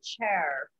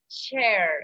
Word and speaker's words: chair: Under the chair. ¿Silla? Chair. Es como si esa A y esa I se volviera una I cuando lo voy a pronunciar.